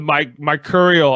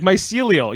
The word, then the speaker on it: mycelial: Yeah, I like how Jeff was like, he's like the mycurial. I was like mycelial.